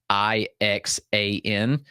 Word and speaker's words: Ixan: He's actually spelled Ixan, but the correct pronunciation is Ixan, like Ixan.